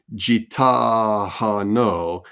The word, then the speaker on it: Gitano: Uh, Gitano, that G, the GI, is really the pickup to the ta and gitano. The accent is on the T.